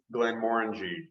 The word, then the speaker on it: Glenmorangie: of ambassador for both glenmorangie and for art bag is that correct that's correct yeah okay very good and and it is glenmorangie the only word that rhymes with orange correct it's absolutely true